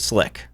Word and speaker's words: SLC: lovable and complete SLC we pronounce it slick as in what's the Slick version of your idea so summarizing SLC simple